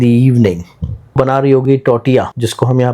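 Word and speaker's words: tortilla: इसको लिखते टोटिला है लेकिन बोते टोटिया है।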